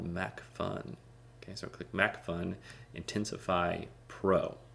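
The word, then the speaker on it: MacPhun: Okay, so I click MacFun, Intensify Pro. MacFun is spelled with a P-H-U-N. That means it's just kind of quirky and fun, and I'm talking P-H-U-N.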